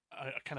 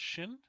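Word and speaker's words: Qin: um uh that controlled kind of a unified China. Um, I think I remember that a Q is supposed to be pronounced sh. So that's shin.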